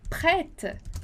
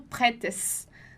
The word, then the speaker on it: prête: Nossa terceira palavra é prête. Prête. E aqui você já aprendeu comigo lá, prête. Então, esse E com acento circunflexo que a gente vai pronunciar o som de E.